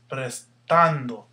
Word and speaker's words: prestando: Prestando. Prestando. Here's your stress. That's where your accent should be.